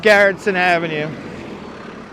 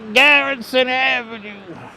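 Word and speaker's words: Garretson Avenue: a certain way and he used to say it like Gar Avenue. He took his dog all the way down the block. He went all the way down to Garrison Avenue. I said, "What the hell you doing over there?"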